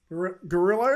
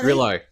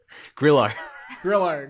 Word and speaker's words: Grillo: Gorillo? Grillo. Yeah. Man, Grillo. Say it again. Grillo. Say like it again. Grillo. Spell it one more time.